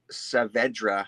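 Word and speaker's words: Saavedra: a story art by Scott cavedra I think is how you say that last name s-a-a-v-e-d-r-a um and it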